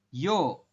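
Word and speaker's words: ㅕ: ke kiri nanti jadinya tulisan Latinnya itu Yeo tapi kita Bacanya adalah yo oke yo yo bisa ya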